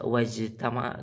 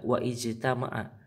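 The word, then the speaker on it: وَاجْتَمَعَ: kasroh dalam hafad hamzah, tapi dibaca wajtama'a, nggak dibaca wa ijtama'a.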